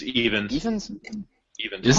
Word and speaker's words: Ifans: I thought Rhys Ifans. I apologize if I'm butchering that name. Rhys Ifans. No, it's even. Rhys Ifans. It's Evans.